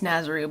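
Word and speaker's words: Snazaroo: and my jazero white it's nazaroo but I call it jazzer I got the hiccups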